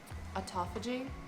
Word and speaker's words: autophagy: process called autophagy autophagy i have no idea how to say it autophagy is what he says autophagy autophagy regardless it's